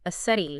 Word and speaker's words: aseity: There's a technical term for it in theology, and it's a big one, aseity. Aseity. Can you spell that for us?